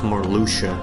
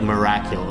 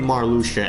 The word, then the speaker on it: Marluxia: I thought it was pronounced like Miracula. Like, I added a Q to his name. There's no Q in Marluxia, and somehow as a kid I added a Q to his name.